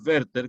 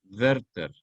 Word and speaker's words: Werther: Pues que el Werther, que se escribe con W y TH, Werther. No digan Werther porque no es inglesa, es alemán.